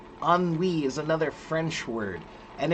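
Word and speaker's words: ennui: There are some words that are like like for example there's a word uh oni. Anwi is another French word and it's spelled e n ui.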